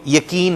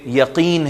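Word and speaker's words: يقين: اور یقین, قاف, اس کو بھی یقین ہم کہتے ہیں, جبکہ یقین ہے قرآنی تلفظ کے اعتبار سے.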